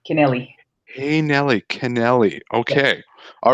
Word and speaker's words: Kennelly: pronounced your name right it's Kennelly Nelly Nelly connealy Nelly am I still not pronouncing it right like hey Nelly kennelly hey Nelly kennelly okay